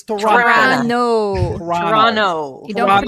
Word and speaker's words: Toronto: It's Toronto. Toronto. You don't Toronto, pronounce the last okay?